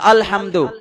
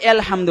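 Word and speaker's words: الحمد: পড়তে হবে আরবিতে পড়তে হবে বাংলা উচ্চারণে ইংরেজি উচ্চারণে পড়া যাবে না তো আলহামদু এটা ইংরেজিতে কি লেখা কখনো সম্ভব এতে আ হয় অ হয় তবে ইউতে প্রথমে ইউ থাকলেও তো আ হয়।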